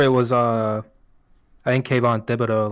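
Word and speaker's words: Thibodeaux: I still have Kayvon Thibodeau, like Tom Thibodeau. Thibodeau. It doesn't look how it looked like that. Yeah, but it's spelled in a very southern way.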